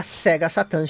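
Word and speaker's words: セガサターン: De início, o nome do personagem seria Sega Satan Shiro. Sega Satan é como é pronunciado Sega Saturn aqui no Japão.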